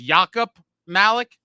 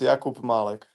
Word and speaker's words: Jakub Malek: So it's Jakub Malek. Yeah, it's Jakub Malek.